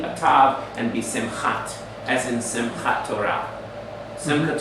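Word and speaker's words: שמחה: When a Shaba is the end of a syllable, it's silent. So we don't pronounce the E sound on that. We don't say Sime. Ha. We say Sim or Simcha.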